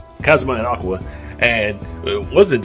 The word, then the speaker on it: Kazuma: Konosuba is freaking Kazuya and okay, I said Kazuya, that's not taken. Keep saying his name wrong. Kazuma and Aqua, and it wasn't them.